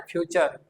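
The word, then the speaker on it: future: तब हम इसका प्रोनाउंसिएशन जो करेंगे वो होगा च। क्या होगा? च। इस कारण से ही हम उसको फ्यू च फ्यूचर ऐसा पढ़ेंगे। पूरा नहीं पढ़ना है। फ्यूचर इट इज not correct. फ्यूचर ये इसका करेक्ट प्रोनाउंसिएशन होगा।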